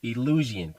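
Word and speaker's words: Eleusinian: greeks had the illusion this was a hard one to pronounce but it's illusion as in the elysium fields or elysium like the movie elysian fields and so the illusion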